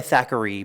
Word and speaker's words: Thackeray: So we go by Thackeray, but there's an AY at the end of our name.